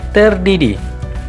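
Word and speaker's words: ter de die: Kemudian ada yang ketiga adalah TDD, ya, kepanjangannya dan cara pengucapannya itu terdidi, ya, artinya 3 kali sehari, ya.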